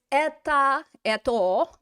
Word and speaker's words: это: So this place in nominative is это, but we pronounce it as an a.